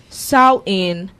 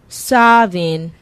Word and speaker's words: Samhain: Samhain, pronounced Samhain, Savin, or Samhain, known most popularly as